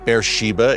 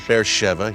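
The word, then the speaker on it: Be'er Sheva: spot to be with you tell bear Sheva bear Shiba it reads on the page but it's pronounced faire Sheva here in Israel a place of incredible biblical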